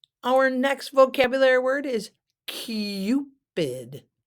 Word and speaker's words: Cupid: next vocabulary word is cupid cupid not Cupid but Cupid it's got the you Cupid it's a mythical figure